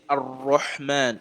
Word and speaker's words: ar-Rahman: So the lam is kind of, merged together and it's not pronounced, separately. So here you're going to say ar-Rahman.